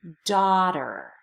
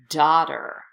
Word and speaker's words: daughter: brother good sister daughter ignore the GH and daughter it's not pronounced and because it's not pronounced the tea ends up being between two vowel sounds so it turns into a D daughter daughter good in the American